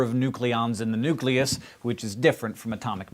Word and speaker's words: nucleus: to switch over to nucleus which is after all how it's spelled and that is all